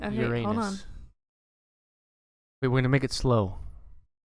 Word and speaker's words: Uranus: i googled it before google google just said uranus we're gonna make it slow damn it